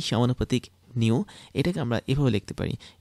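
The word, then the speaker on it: ν: মানে এটার উচ্চারণ হচ্ছে কি নিউ।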